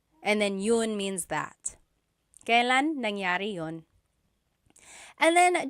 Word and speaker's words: kailan: Kailan nangyari yun? And then just a pronunciation tip, it's pronounced kailan, kailan, but you will often hear it pronounced kailan, kailan.